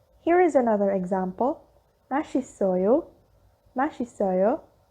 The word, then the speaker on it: 맛있어요: Although it is spelled as mat, it, ayo, it is pronounced as 맛있어요. The shiot and sang-shiot took over the place of the iang on its succeeding block and is pronounced as its original pronunciation.